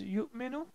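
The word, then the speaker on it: يُؤْمِنُ: So please pay a very special attention to the pronunciation, because this pronunciation is different. This is yu'minu and this is yujibu.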